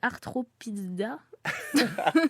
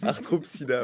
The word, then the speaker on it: Arthropsida: Alors, je pense, je vais peut-être le prononcer mal, hein, c'est Arthropizza. C'est à l'allemande. Arthropsida, ouais.